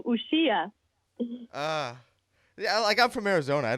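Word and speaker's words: Uxía: Uxia. I still messed it up. Uxia. There it is. Uxia. I think the accent is on the I, so Uxia.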